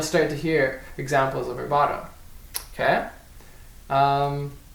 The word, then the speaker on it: rubato: That's rubato. That's spelled R-U-B-A-T-O.